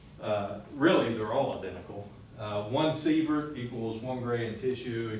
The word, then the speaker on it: sievert: Effective dose, right, measured in, it's pronounced sievert.